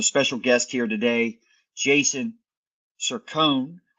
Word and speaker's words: Cercone: We have a special guest here today, Jason Cercone. I want to make sure I pronounce that right. I originally, on our pregame, I was calling him Cercone. So I got that right.